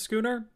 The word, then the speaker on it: schooner: talk about everything that just happened oh it's pronounced schooner you know that makes sense that's one of